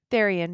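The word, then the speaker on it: Tharion: Therion? Therian, yeah.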